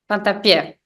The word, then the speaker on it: Fantappiè: So, is that how you pronounce your name? Sorry. Fantappie.